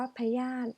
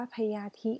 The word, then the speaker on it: พยาธิ: ธาตุ อ่าน ว่า ธาตุ พยาธิ อ่าน ว่า พยาธิ ไม่ ได้ อ่าน ว่า พญาธิ นะ คะ ภูมิ ใจ อ่าน ว่า